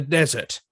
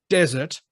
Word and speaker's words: desert: they live in the desert all right remember the pronunciation desert um the other one is dessert it is posted right